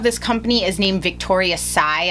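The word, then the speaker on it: Tsai: company is named Victoria Sai I believe you pronounce her name I will leave it in the bottom screen here uh it's TS AI a little background into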